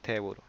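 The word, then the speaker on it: テーブル: Table, que se dice teburo.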